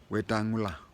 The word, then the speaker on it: Wetangula: The name is Wetangula. Wetangula.